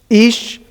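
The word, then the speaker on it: איש: How would you pronounce it? How is the hirik yod sounded? Ish.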